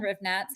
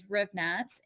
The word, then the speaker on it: Hrivnatz: all kind of platforms, but I'm at Hrivnatz, and I'll spell that out because my last name is very difficult. But is just, and last name is Hrivnatz, Hrivnatz.